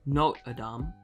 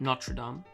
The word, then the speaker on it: Notre Dame: dame for some reason the american guy tried to correct her pronunciation as no adam not notre dame it was a wildly uncomfortable few minutes yeah yeah i didn't even know how to pronounce it notre dame not sure dumb like it's confusing the